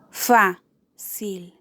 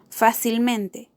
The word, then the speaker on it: fácilmente: Fácilmente. Fácilmente. Fácilmente lleva su acento en la antepenúltima sílaba, fa, por lo que es una palabra sobreesdrújula.